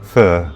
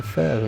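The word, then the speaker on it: phở: Vietnamese pronunciation is fur.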